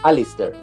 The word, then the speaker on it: Alasdair: Alasdair, no sé cómo será. En realidad, depende si lo pronuncia un americano, un británico o un escocés, pero dejémoslo en Alistair.